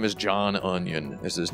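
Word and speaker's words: Unyon: his name is uh his name is John onion is his name and it's spelled u-n-y-o-n thank you that's good I feel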